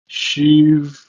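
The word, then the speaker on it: שבעה: In Hebrew, masculine form is pronounced as shiv'ah, and the feminine form is pronounced as sheva.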